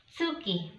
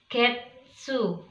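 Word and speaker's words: 月: Bulan dalam bahasa Jepang disebut dengan tsuki. Ya, jadi kalau dia berdiri sendiri seperti ini, kita bacanya tsuki. Kalau dia ditemani dengan kanji yang lain atau berpasangan dengan kanji yang lain, maka kita membacanya dengan getsu atau gatsu.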